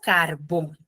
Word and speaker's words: carbón: Por ejemplo, carbón. Carbón tiene la mayor fuerza de voz en la segunda sílaba, que es la última sílaba, bon.